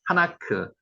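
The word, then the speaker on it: חֲנוֹךְ: 하나크, 하녹, 에녹, 하나크라고 발음합니다.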